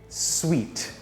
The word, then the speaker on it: sweet: actually one syllable world sweet sweet sweet i'd like to reserve an executive suite this sweet has everything i need it's not su it's pronounced as sweet like sugar is sweet juice juice juice orange